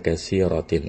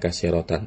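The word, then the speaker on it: كثيرةٍ: Jangan mentang-mentang shallaitu fi masajid jadinya katsiratan, tidak. Tetap dia harus majrur.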